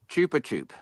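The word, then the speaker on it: Chupa Chups: from Japan my friend gives me apparently it's pronounced uh Chupa chup chup chup that's that's the that's the correct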